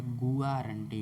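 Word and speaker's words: guarantee: हम बात करें तो इसका उच्चारण होता है ग्यारंटी होता है गोवा जी यू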